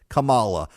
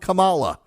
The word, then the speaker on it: Kamala: a pass but not Donald Trump who says Cala like a lot of people say Kamala because